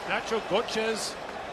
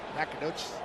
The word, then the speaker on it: Nacogdoches: Nacho Gochez, Texas. Is that how you say it? How do you say it? Nacogdoches.